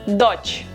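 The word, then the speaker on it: дочь: with the letter that is very difficult to pronounce if you don't have the sound in your language sin sin and daughter is Dutch Dutch daughter dodged sun-sin daughter dodged once again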